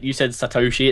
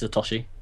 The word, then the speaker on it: Satoshi Nakamoto: It's actually, yeah, you said Satoshi. It's Satoshi.